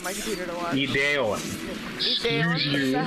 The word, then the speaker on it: Ideon: and Ideon, I think, is the other one I have sitting on my computer to watch. Ideon. Ideon, Excuse is you.